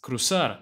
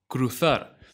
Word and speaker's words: cruzar: street street feminine now notice how i pronounce cruzar as crosar instead of cruthar this is because in